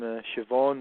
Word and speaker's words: Siobhan: In Gaelic, you get the name Siobhan. It's spelled S-I-O-B-H. Yeah, that's interesting. I always wondered that. Like, why would they say the V, but there's no V?